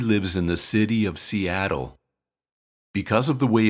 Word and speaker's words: Seattle: considered a vowel and the syllable T is unstressed we pronounce the T as R and say R Seattle Seattle Betty lives in the